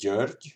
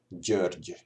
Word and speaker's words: György: So the way how you pronounce it, in case you are not familiar with this sound, is that imagine this is the top of your mouth, like this part, the top, and here's your tongue, and you would do